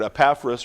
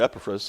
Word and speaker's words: Epaphras: But rather, and there are different ways you want to pronounce his name. You see it in verse 7. You hear it Epaphras or Epaphras, it doesn't matter to me.